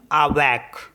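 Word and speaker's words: avec: words में for example A वी ई सी इसको पढ़ते हैं हम आवक आवक मींस होता है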